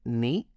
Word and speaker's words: knee: The K in ni takes us back to Old English and tells a story of how people spoke to each other back then.